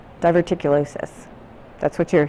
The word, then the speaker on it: diverticulosis: Diverticulous. Diverticulosis. That's what you're saying? Oh, you're explaining to me how it's pronounced?